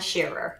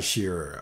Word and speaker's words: Shearer: And I'll pronounce it for you because it's commonly mispronounced. It's Shearer. Shearer.